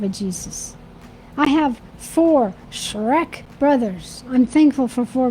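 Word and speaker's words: Schreck: myself but that's okay shrek my maiden name is shrek it's not spelled like the movie it smelled s-c-h-r-e-c-k and when he calls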